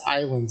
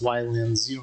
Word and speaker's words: Ylands: They say it's islands. I'm like, no, it's Ylands. It's Ylands. You don't pronounce Y as an I if it's in front of something like that. Doesn't make any sense. Only in the middle of words.